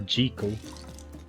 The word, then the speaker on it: Jekyll: jekyll mr hyde or jiko is how it's pronounced books no thanks frankenstein